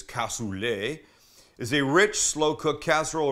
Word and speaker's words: cassoulet: says that a cassoulet the French pronunciation is cassoulet is a rich slow-cooked